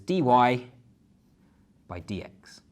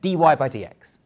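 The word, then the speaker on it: dy/dx: So this we would say as dy by dx. That's literally how you say it, dy by dx.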